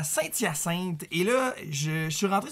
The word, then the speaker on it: Saint-Hyacinthe: Le H de Saint-Hyacinthe est un H muet et non un H aspiré.